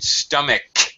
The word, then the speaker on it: stomach: to me yeah okay one other thing I pronunciation stomach the CH in stomach the end CH is